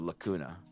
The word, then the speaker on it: lacuna: little detached from the Lacuna? When you said the word lacuna, however you want to pronounce it, I've been saying lacuna to avoid the hakuna aspect.